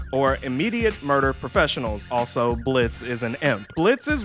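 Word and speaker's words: Blitzø: the main cast of blitzo or Blitz but the O is silent as you may already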